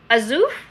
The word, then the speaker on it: Azuf: my name is azuf i think it's actually pronounced exactly as it's written azuf am i saying it correctly azuf i love it that's